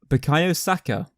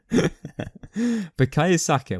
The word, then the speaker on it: Bukayo Saka: Who was younger, Bukayo Saka? Oh, sorry, I don't know why I said his name wrong. I know who he is. Bukayo Saka when he made his debut for Arsenal, or